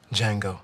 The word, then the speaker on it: Django: Django.